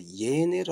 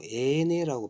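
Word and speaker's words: 欸乃: 그러니까 그래도 이거 좀더 다른 책에도 보면 이거 예내를 안 하고 애내라고 발음합니다. 애내.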